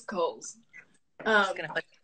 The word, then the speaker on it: Cowles: It's Cowles. It's a silent W. It's Cowles.